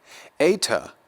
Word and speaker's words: eta: Eta, a longer form of what is an E-class vowel, just like epsilon, it's going to be pronounced like A, as in way or skate.